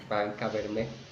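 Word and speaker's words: Barrancabermeja: I can say Barranca Bermeja. Yeah. Is that correct? Barranca Bermeja. Yes. You got it.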